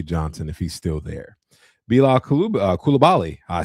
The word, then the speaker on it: Bilal Coulibaly: Bilal Coulibaly.